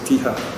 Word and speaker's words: Siha: Siha, Myanmar would pronounce it Tiha.